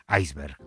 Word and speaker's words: iceberg: tipo de prevención y el diccionario panhispánico de dudas, además, dice que en el español de aquí lo recomendable es pronunciarla conforme a nuestra fonética, aunque en el español que se habla en América, está extendida la otra forma, la pronunciación inglesa que es iceberg.